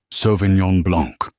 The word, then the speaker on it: Sauvignon Blanc: "It is pronounced Sauvignon Blanc," she said, her Polish accent suddenly sounding not like a flaw, but like a statement.